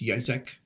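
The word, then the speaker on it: Yitzchak: I think it might be pronounced similar, but it's Yizek, maybe.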